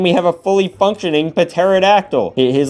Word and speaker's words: Pterodactyl: Is this a Pterodactyl? I know it's pronounced Pterodactyl, the P is silent.